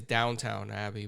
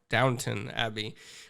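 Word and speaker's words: Downton Abbey: on uh Downtown Abbey I always say it wrong I say it's downtown abbey but it's down downtown abbey uh so before you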